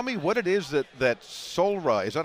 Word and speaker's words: Soulra: of all tell me what it is that solra is that how you pronounce it solra that's correct yeah one of the things getting